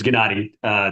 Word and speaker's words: Gennady: And it's Gennady. Tammy, tough name. Gennady. Gennady. Okay, so it's a hard G. Okay, got it. Hard G. Perfect.